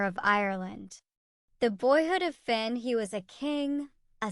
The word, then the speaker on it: Finn: St Patrick chapter 1 Finn pronounce fune to rhyme with tune got his first training